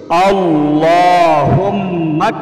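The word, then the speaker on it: اللهم: খুব মনোযোগ দিয়ে সহীহ শুদ্ধ উচ্চারণটা শিখুন আল্লাহুমমা বলতে হবে অনেকে কিন্তু বলেন না একটু কষ্ট করে হলেও সহশুদ শিখতে হবে আল্লাহুমমাফিনি ওজুনি আল্লাহুমমাফিনি ওজুনি আল্লাহুম্মাফিনি ওজুনি 100 বার এই দোয়াটি পাঠ করতে হবে।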